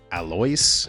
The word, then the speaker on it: Alois: That first name is, I guess, pronounced Alois in Polish.